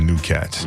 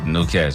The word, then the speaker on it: Gnu Kats: But as a team, we are the New Cats. New Cats, baby. It's spelled GNUKATS on everything.